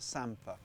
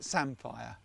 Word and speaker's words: samphire: season peas and this you'll all pronounce this wrong but in norfolk we call it sampa other people in particular a mate of mine from yorkshire calls it sandfire but it's not it's